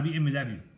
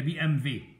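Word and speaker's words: BMW: الفيرنكس هي الفهامه، هو بيتكتب بالدبليو بس لانه الالمانيه الالمان بينطقوا الدبليو زي بي ام في، بس احنا هنطقها بي ام دبليو انما هي بي ام في.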